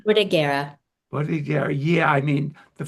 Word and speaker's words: Bordighera: pronounce it correctly because I always mispronounce it. Bogadera, is it called? Bordighera.